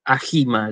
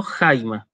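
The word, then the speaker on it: αἷμα: No leo ajima, leo jaima, ¿sí? ¿Por qué? La palabra empieza por diptongo y ese diptongo tiene un espíritu áspero que se escribe abajo y el circunflejo que se escribe arriba.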